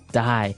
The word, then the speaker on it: dye: you're dying it okay dye so it's pronounced exactly the same way as you know to die to not live anymore die but it's spelled differently